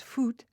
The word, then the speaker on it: faut: "Il ne faut," pronounced foot, "pas passer par là."